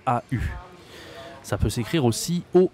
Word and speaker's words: au: vais au restaurant d'accord au ça se dit au d'accord ça s'écrit a u bon tu as le